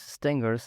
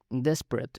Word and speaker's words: Despret: Eh, no es Stangers es Desperate, Vivian Desperate, eh, creo que sí se pronuncia, es una francesa.